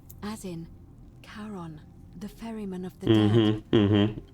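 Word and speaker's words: Charon: it's just as you described it only your pronunciation is a little off the name you heard wasn't Karen it was C h r o n as in Kon the Fairman of the Dead who in exchange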